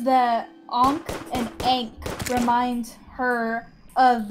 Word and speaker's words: ankh: mean because egg sounds it's ankh yeah it's on okay oh a h and it's not Inc you know it's not Inc because ink sounds like Aang yeah